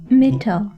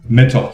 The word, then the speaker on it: Mittal: Mittal. Mittal. So it's not like the toy company, Mittal Toys. It's Mittal.